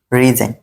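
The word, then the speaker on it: resign: আছে মোট কথা হলো যদি শব্দের শেষে আই জি এন থাকে তাহলে কি জি বাদ জি বাদ জি বাত জি বাদ ঠিক আছে রুল রুলগুলো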